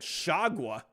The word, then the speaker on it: Chargois: this guy's name jtique chargois and I was like and I went to the pronunciation I'm like shagwa what the heck is